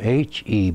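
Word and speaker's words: Huebscher: I spell my name H-E-B-S-C-H-E-R, and he spelled it H-U-E-B, which is pronounced Hebscher.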